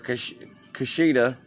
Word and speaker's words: Kushida: Kushida. I'm saying it right. Kushida. Yeah, because it sounds like Hakira Shida.